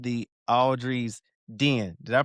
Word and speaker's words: Audrey's Den: which while she's on the show today, she has this wonderful creation called the Audrey's Den. Did I pronounce that correctly? Yep, I The understand. Audrey's Den.